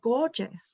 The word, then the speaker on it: Gorgias: And there's another one called Gorgeous, which is spelled Gorgias.